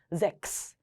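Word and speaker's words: sechs: 근데 이게 6이라는 숫자입니다 독일어로 읽을 때 그래서 스와 제요 발음이 합쳐져서 잭스 스라고 했습니다 어 그래 안까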